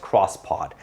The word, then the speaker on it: X-Pod: Well, this is the Expandable X-Pod, pronounced cross-pod.